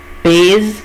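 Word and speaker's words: pèse: وهنا الاس بين دو فوايل بنطقها زد، عشان كده اقول ايه؟ ايل او ال بيز كذا كيلو، او جرام على حسب وزن الحيوان، او ايه جرام على حسب وزن الحيوان.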